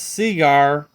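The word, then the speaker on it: Segar: Seeger signed some of his earlier Popeye comic strip with Cigar, his last name being a homophone as Cigar, pronounced Cigar.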